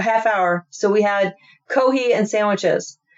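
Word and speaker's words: コーヒー: We could stop there for about a half hour, so we had kohi and sandwiches. The Japanese can't pronounce the F and they say coffee, they say kohi.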